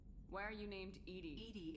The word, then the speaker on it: EDI: are you named Ed Ed is the phonetic pronunciation of Eed that is an where